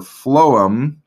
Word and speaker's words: phloem: is which just remember although it's spelled with a ph instead of an f but remember phloem starts with an f sound and food starts with